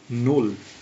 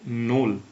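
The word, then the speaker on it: null: প্রথমত হচ্ছে শূন্য কে এখানে বলে নোল হ্যাঁ শূন্যকে এখানে বলে নোল নোল কিভাবে এন ও এল এল নল বানানগুলো মনে রাখার একটু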